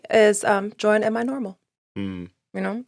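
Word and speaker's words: NORML: join us at my normal um and that's well n-o-m-d-r-l right national organization for the reform of marijuana law so it's not spelled like normal when i say pleasantries i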